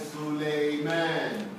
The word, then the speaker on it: Sulaiman: And Sulaiman. Somebody say Sulaiman? Alhamdulillah, Arabic pronunciation is right.